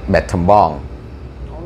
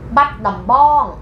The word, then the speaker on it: Battambang: And you can pronounce it in correct way. Like for example, you're gonna say Battambang. No. What? Battambang.